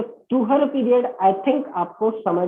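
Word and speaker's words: طهر: तो तुहर period I think आपको समझ में आया होगा। कुछ लोग इसे तूर भी प्रोनाउंसिएट करते हैं, अरबिक ओरिजिन का टर्म है, हम लोग हिंदी भाषी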